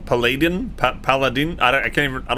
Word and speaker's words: paladin: door cannot be opened it rhymes with aladdin aladdin paladin pal i can't aladdin